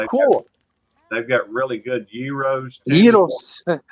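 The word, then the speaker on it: gyros: they've got really good Euros I can't believe you actually said it right I totally expected you to say jyos no Dev dog calls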